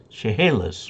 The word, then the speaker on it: Chehalis: Neil Marsh, good evening, Dave, and from W7NRM in Chevy, ha like in hay, Chehalis, Washington. Okay, thanks for the pronunciation guide.